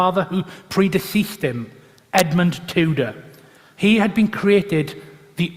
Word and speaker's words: Tudor: The style Henry Tudor, or Tudor in the correct Welsh pronunciation, was only used by those who sought to mock his background.